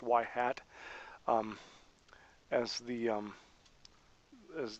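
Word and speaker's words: ŷ: but the we'll use y with a little carrot over it which is sometimes pronounced y hat um as the um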